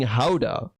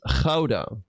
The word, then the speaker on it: Gouda: It's not an H because I'm not saying Gouda. It's Gouda. But I know that people that are not, you know, that are from the US, let's say, they cannot pronounce the Dutch G. They cannot say Gouda. I mean, I feel like if you try, you should be able to say Gouda.